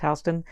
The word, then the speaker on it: Houston: i was on houston street and yes it's pronounced houston and that was really weird and that blew